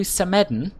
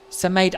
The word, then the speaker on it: Samedan: And today we're going to Samedan, which I'm told is how it's pronounced. I used to say Samedan, but I've heard this third hand, but this is how Luca, who is Swiss, pronounced it apparently, so that's what I'm